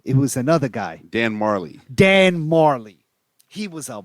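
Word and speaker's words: Majerle: Marley was spelt with like a J too. Yeah, I don't even know how you said Marley because it was like Marjorie or something. Because he's from Phoenix, so he knows how to say it. Yeah, it was. It definitely was. Majorie, something like that. The name was spelled differently. Yeah. I mean the J was silent for sure.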